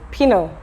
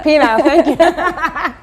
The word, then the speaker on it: penile: without the vagina or how do you say this word pinot stimulation penile stimulation yeah it's definitely uh possible